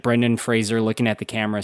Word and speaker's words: Fraser: That's Fraser not Frasier. If you say Frasier I know where you live.